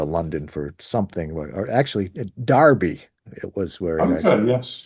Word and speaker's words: Derby: for something or actually Darby it was where yes it's spelled derby but it's pronounced Darby and when he was